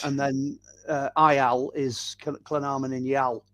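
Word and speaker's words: Llanarmon-yn-Iâl: And then IL is Llynarmon in Yal.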